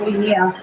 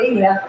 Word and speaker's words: Linea: I've been in the space for a few years, and we just recently launched a zkEVM called Linea, and it's not pronounced as Linea, it's called Linea.